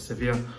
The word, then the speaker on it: Sevilla: up against seville uh sofia however you pronounce it i think you pronounce it as sevier in the champions league